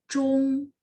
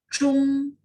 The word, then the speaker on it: zhong: Jadi begitu baca ZH, ONG itu bacanya Chung, tidak ada angin ya, terus lidah saya diangkat. Chung, Chung.